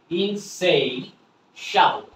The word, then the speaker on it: insatiable: ওকে, এখানে উচ্চারণটা আমি বলি, টিআই আছে, টিআই এর সাউন্ডটা কি হবে? শ, টিআই এর উচ্চারণটা হবে শ, আর শ এর সাথে এ হয়ে গেল শা, তাহলে উচ্চারণটা হলো কি? ইনসে, ইনসেই শাবল, ইনসেই শাবল।